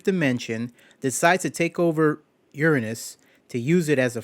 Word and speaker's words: Uranus: mean the planet uranus actually the planet's name is pronounced uranus let me tell you